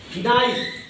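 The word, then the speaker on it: knife: गलत गलत ऐसे ऐसे ही डअ स्टूडेंट बी साइलेंट ऐसे ही देखिए और कुछ शब्द के एन आई एफ ई नाइफ क्या पढ़ते हैं मेरे डअ स्टूडेंट चाकू नाइस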